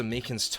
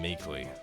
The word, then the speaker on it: Meekins: Actually, Officer Meekins at the detention center told us. Ah, that poor little doggy. Poor guy, I keep getting his name wrong and calling him Meekly.